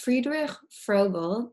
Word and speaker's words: Friedrich Froebel: Just because I will completely butcher it and would like Yeah, to hear it pronounced again. it's Friedrich Froebel.